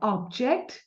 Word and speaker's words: object: Ob पे हमारा stress आ रहा है first syllable. अभी अपन object को verb बना देते हैं. Okay? बहुत funny है line from Bollywood. I object, my lord. I object, my lord. इसमें stress कहाँ आया? Inject, which is the second syllable, right?